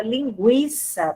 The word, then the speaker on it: linguiça: Porém, as palavras, né, que apresentam a pronúncia do U, elas continuam, tá? Com a mesma pronúncia. Você só não usa mais o trema, a notação ali em cima da vogal U, tá? Então, é o exemplo que eu dei da palavra linguiça, tranquilo, né? Então, antes essas palavras eram grafadas com trema, não tem mais o trema, mas existe a pronúncia continua, prevalece, tá?